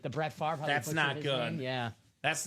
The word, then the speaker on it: Favre: Brett Faver butchered his name. Favor Favre. Uh, but it's far right.